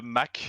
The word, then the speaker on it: Mc: And then it sounded too feminine, so I added MC in front of it, which is pronounced Mac, not MC.